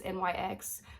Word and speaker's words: NYX: It's NYX, but it's pronounced NYX.